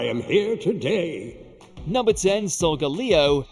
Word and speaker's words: Solgaleo: here today number 10 solgaleo and lunala so that's how you say it these two legendaries won't